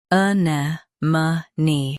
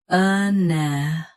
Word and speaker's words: anemone: Anemone. Anemone. Stress ne. Keep m soft and finish with clear ni.